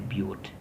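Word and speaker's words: but-: So these are going together, but when we pronounce it in naming, we said that's a butte, not but.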